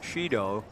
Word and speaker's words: Shiryu: Now, my public address announcer here says that Sato told him that it's Shido, even though it's spelled S-H-I-R-Y-U, and he said he got it directly from the coach.